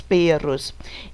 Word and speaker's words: perros: Vocês sabem que pero é uma palavra com R. Olha a pronúncia, pero. E nós temos a palavra com 2 R's, mas a pronúncia vai mudar. Perros. Ok? Pero, perros. Pero, perros. Eu vibro a língua quando eu tenho 2 R's.